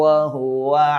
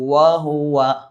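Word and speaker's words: وهو: ഈ വാവിൻ്റെ മഖ്റജ് പല ആളുകളും ഉച്ചരിക്കാറുള്ളത് വാ എന്നാണ്. അഥവാ താഴെ ചുണ്ട് മേലെ മുൻപല്ലിൽ മുട്ടിച്ച് വാ എന്നാണ് പല ആളുകളും ഉച്ചരിക്കാറുള്ളത്. എന്നാൽ അത് തെറ്റാണ്. മറിച്ച് വാവിൻ്റെ മഖ്റജ് രണ്ട് ചുണ്ടുകൾ മാത്രമാകുന്നു. അതുകൊണ്ട് തന്നെ വാ വാ, ചുണ്ട് മുഴുവനായും പരിപൂർണമായും മുന്നിലേക്ക് കൂർപ്പിച്ചിട്ട് വാ ഇങ്ങനെ പറയണം. ഇതാണ് വാവിൻ്റെ മഖ്റജ്, മറന്നു പോകരുത്.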